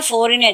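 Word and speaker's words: foreigner: फॉरिन नहीं है, फॉरिनर, जी वहाँ पे साइलेंट है.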